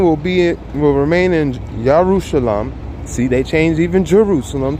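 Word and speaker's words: ירושלים: My name will remain in Yerushalayim.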